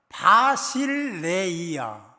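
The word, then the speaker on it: βασιλεία: 나라가 임하시오면은, 나라는 바실레이야. 2부 때 바실레이를 발음을 잘못한 것 같아요. 이게 맞냐고 써갖고 왔는데 좀 다르게 써갖고 왔더라고요. 바실레이야. 하나님 나라를 바실레이라고 합니다. 바실레이야라고 합니다.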